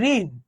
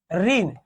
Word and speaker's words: ঋণ: বলি যদি বলি যে ঋণ ঋণ এখানে মুধন্য ন আছে না এটার উচ্চারণ কি হচ্ছে বলেনতো দন্তন হসন্ত মুধন থাকলে কোন হবে